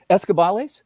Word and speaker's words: Escobales: Escobales, is that the correct pronunciation? Yeah, you got it.